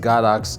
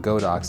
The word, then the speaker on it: Godox: the firmware and yes it should be pronounced got ox and not go Docs as you'll hear me